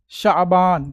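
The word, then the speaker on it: شعبان: का आठवां महीना उर्दू कैलेंडर का आठवां महीना शाबान क्या पढ़ेंगे शाबान ठीक है इसी महीने की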